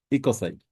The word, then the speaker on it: ecocide: a good starting point it's one word Eide very similar it rhymes with genocide we are naming it